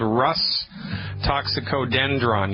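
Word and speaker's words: Rhus toxicodendron: The one that I want you to get is called Rus Toxicodendron. You spell that R, H like Harry, U, S like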